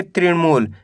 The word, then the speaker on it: तृणमूल: मिलके बन जाएगा भृकुटी त्रिणमूल कैसे पढ़ेंगे तृणमूल पहले आपको त्रिण पढ़ना है इसके बाद मूल पढ़ना है दोनों मिला दो त्रिणमूल ऋषि